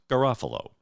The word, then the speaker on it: Garofalo: But yes, the proper pronunciation, as their family pronounces it, is Garofalo.